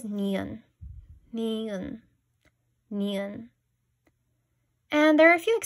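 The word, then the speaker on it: 니은: First, we have an N sound, known as niun.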